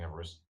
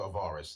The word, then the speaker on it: Avaris: We were all fighting Avarice, and no, Avaris. That's how you pronounce it.